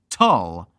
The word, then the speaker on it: Tull: Remember, Tull rhymes with dull.